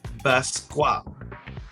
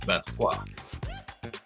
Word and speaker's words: Basquiat: This is Jean-Michel or Michel Basquiat. Basquiat. I don't think you pronounce the T at the end, right? Basquiat, but Basquiat.